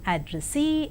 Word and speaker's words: addressee: And now the words stress, the words ending with suffix ee, eer and air are stressed on the the syllable itself, that is payee, addressee, employee, absentee. And engineer, volunteer, career, mountaineer, millionaire and questionnaire. And let us see accent in the compound words.